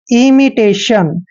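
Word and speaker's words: imitation: की मात्रा पढ़ते हैं और टी आई ओ एन जब भी चारों लेटर इकट्ठे आते हैं इसको हम शन पढ़ते यानी कि इमिटेशन इमिटेशन होता है दोस्तों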